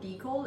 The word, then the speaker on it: decal: people keep asking me why I pronounce decool like decal instead of decal honestly I don't know why I feel like I don't know if it's an English thing everyone else in England might call it a decal but for some reason I just say Deco because I pronounce things